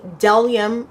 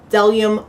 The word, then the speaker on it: Bdellium: And I'm talking about the Bdellium, because the B is silent, right? I've heard that they said that the B is silent. Bdellium brush set.